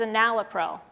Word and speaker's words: enalapril: live longer, and that medicine was enalapril, which I prescribe because it rhymes with April.